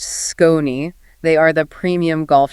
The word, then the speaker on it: SKON: That's S K O Ni, pronounced Skone.